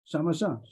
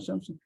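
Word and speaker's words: שמשה: Shamasha. A wind Shamasha, not Shamsha.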